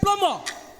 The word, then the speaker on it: plumber: Take plumber. I can't hear you, my dear. Take plumber. Plumber. 10 points to Sisters High School for plumber. The B in the word is silent. Plumber, not plumber.